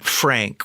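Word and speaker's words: Phranc: Jewish lesbian folk singer Frank with a pH and a hard C is how she would always describe herself Frank got out there by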